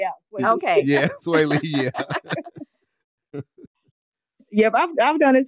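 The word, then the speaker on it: Swae Lee: Yeah, Sway Lee, yeah.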